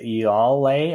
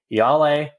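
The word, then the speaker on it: Ialai: word play with iyale i mispronounced her name in the last uh review that i did i think i said y'all lay i was trying to add too many l's and i got corrected there on discord so i'm gonna say right now yale probably won't have to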